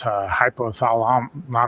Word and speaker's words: hypothalamus: So, then it changes it into his actual human being's hypothalamus. I don't know how to pronounce that.